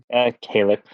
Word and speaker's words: Calyx: Calyx. Like helix.